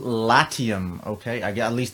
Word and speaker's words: Latium: into an ICO called Latium okay I get at least that's how I think it's pronounced lati um the website link